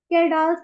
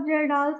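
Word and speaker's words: Kjeldahl: एक है, पिछली बार भी किया था ये, केरडाल्स मेथड, जिसको आप जेरडाल्स मेथड भी कह सकते हो। अलग अलग जगह पे अलग अलग प्रोनाउंसिएशन है।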